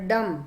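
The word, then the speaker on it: dumb: ऐसे ड्रम तो हम बोलते हैं, एम इज प्रोनाउन, बट डम तो यू से डम ब नहीं बोलते, तो ब इज साइलेंट.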